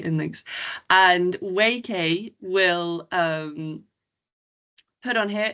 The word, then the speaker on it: Waikay: thing about how to how to pronounce it. WK YK Y K but yeah WK is what we've landed on like traps like everyone